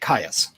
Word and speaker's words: Kayas: It's just more like yes, like Caius.